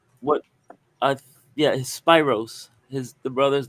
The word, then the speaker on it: Spyros: I Yeah, Spyros. His the brother's name is Spyros. Spyros. Spyros. Spy. Yeah. Well, I think it's pronounced Spiros. S Y R O S.